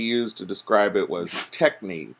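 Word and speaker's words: techne: to describe it was technique te CH in E and so kind of like technique and he said it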